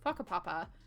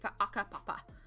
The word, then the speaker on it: whakapapa: and our iwi here, there is a guttural stop on H's. So, for example, whakapapa, which is like your ancestry, your genealogy, you heard me just say whakapapa, right? If I'm following the actual Taranaki tribe pronunciation, we would be whaakapapa, because we have a guttural hard stop on that H.